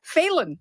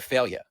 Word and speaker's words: Failla: And they also say Phelan.